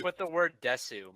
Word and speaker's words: desu: It's like with the word desu. Most of the time, the U is not actually pronounced.